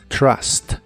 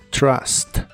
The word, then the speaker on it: trust: similar a una Che la u de esta palabra se pronuncia como a Así que es Trust Trust el verbo publicar en